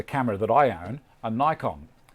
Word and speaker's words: Nikon: Another one that's interesting, in the States, just about everyone there calls the camera that I own a Nikon.